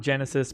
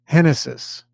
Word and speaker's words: Genesis: say this news name not Genesis but whatever however he pronounces it I'm gonna go with Genesis yeah so much it's not that but I don't care I know I know I'm gonna tell you right now it's henesys yeah shortest Luis Castillo